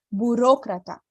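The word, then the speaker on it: burócrata: que o outro fechadinho não era estoqueta aristocrata burocratar democrata viu como que muda né a tônica da palavra Então pronuncia aí também na sua casa aristocrata burocrata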